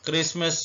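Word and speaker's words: Christmas: मतलब होता है किला क्रिसमस में टी साइलेंट है क्रिसमस पढ़ेंगे उर्दू में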